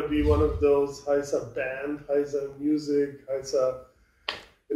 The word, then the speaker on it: Heisa: be one of those Heisa band, Heisa music, Heisa. You know, all bands have this generic thing behind their name. Don't say Heisa in a German accent. It's Heisa.